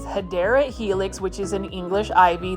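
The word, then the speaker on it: Hedera helix: and check this out this is a hedra helix or the correct way to say it is hadera Helix which is an English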